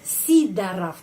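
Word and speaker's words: Сидоров: nama keluarga ini sorov ya sidorov bacanya sidaraf Kenapa karena penekanannya pada huruf i sidaraf sidaraf kalau kita berbicara tentang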